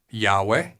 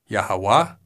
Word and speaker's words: Yahweh: may have different vowels some possible pronunciations are yahwah Yahweh Yahweh yahuwah yeah hey way yahuwah and many more possibilities because Yahweh has the